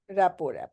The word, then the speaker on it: rapport: Rapo, yes. Rapo is a harmonious relation in which people or groups concerned understand each other's feelings or ideas and communicate well. Okay, a good rapport. See, RT is silent.